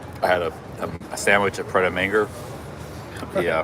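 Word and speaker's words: Prêt à Manger: I had a sandwich at Pret a Manger. Yeah. Pret a Manger.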